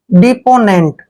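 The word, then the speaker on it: deponent: यहां तक पढ़ते हैं डी का उच्चारण हम ड करते हैं ई को ई की मात्रा पढ़ते हैं और पी को प पढ़ना है ओ को ओ की मात्रा लिखेंगे डिपो हो गया डिपो एन को हम न पढ़ेंगे ई को एक ही मात्रा पढ़ते हैं एन को आधा न और टी को ट पढ़ते हैं नेंट डिपोनेंट डिपोनेंट होता है गवाह या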